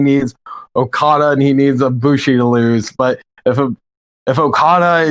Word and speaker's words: Ibushi: So Koto, is it Ibushi? How do you say his last name? It's Kota Ibushi.